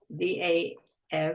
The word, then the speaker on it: Dav: And the illustrations and the story are by Dav Pilkey, D-A-V, so D-A-V, so maybe it's pronounced Dove, but I think it's Dav Pilkey, P-I-L-K-E-Y, and the